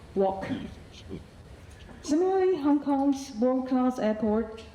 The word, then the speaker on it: wok: In Cantonese it's pronounced in wok with a k sound formed in the mouth but not released. So, wok not wok.